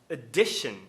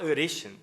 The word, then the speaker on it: addition: A palavra adição, addition, eu não posso falar addition. Por que não? Porque o tá na sílaba tônica, a palavra adaptar.